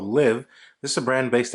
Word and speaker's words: Liv: brand very good um Liv kind of means just to live and that's how it's pronounced live um I think you